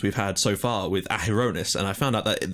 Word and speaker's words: Adonis: of the achievements we've had so far with aonis and I found out that that is how it's pronounced um are are you know they feel